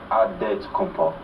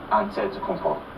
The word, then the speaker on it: Antetokounmpo: In a Greek way, you gotta say with a D, so it's Antetokounmpo. But in the Greek way, you say with an NT, like Antetokounmpo.